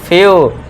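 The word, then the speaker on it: few: फ्यू आधा फ और पूरा यू हो गया।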